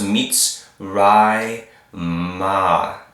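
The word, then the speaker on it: מִצְרַיִם: So it goes mitzrai ma.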